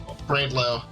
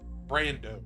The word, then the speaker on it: Brando: Brandlow, however the fuck you say his name.